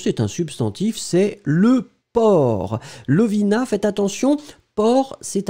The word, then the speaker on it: porc: C'est final, on ne le prononce pas, hein, mais on doit l'écrire.